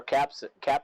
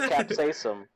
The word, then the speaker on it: capsaicin: That plutonium is made with pure capsaicin.